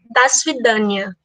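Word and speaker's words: до свидания: A pronúncia do primeiro é das vidania.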